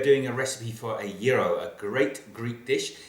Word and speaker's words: gyros: Today we are doing a recipe for a yurro. A great Greek dish. It's about gyros, but it's actually pronounced yuro. It's got silent letters in there.